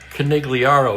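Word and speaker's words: Conigliaro: G's are never pronounced in the Italian language. Think Don Corleone.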